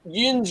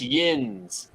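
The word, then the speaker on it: yinz: it what it's it's the way they spell it is y-i-n-z is how it comes out so they always say like Yin yin's going here or yin's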